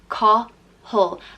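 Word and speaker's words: Cathal: ruler and it's pronounced call whole like you almost don't pronounce the second a it's just kind of a H and L put together call whole call and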